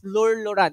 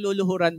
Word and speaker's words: Lueur Lauren: po no so Welcome sa ating company It's lur luran pakibanggit nga po lur luran ulit po lur luran luran Anong luluhuran Po lloran Po ha So yung pronunciation po